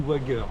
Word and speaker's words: Wager: Je vais vous parler d'un livre que j'ai lu là qui s'appelle Les naufragés du Wager, utilisé la prononciation à l'anglaise.